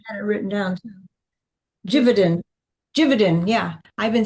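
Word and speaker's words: Givaudan: So you've probably heard of simise and IFFF and Fermanich and Javadin which I learned today is pronounced um how's it pronounced? Like gainic. No, I had it written down, too. Jividan.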